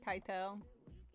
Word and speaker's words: Keitel: Keitel.